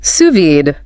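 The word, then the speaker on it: sous vide: and suvid pronounced suvid French for under vacuum.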